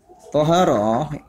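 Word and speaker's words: طهارة: Toharoh dengan dibaca fathah to-nya diucapkan toharoh ya.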